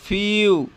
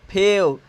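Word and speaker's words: few: मतलब हो गया कुछ उच्चारण यहां पर चेंज हो गया लेकिन अगर इसको अगर हम नहीं जानते रहते तो इसका उच्चारण करते फेव ठीक है ना इस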